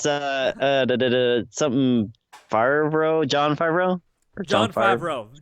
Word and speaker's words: Favreau: Oh no, it's something Favreau, John Favreau. Or John Favreau. John Favreau. I think that's how you pronounce it. It's like French.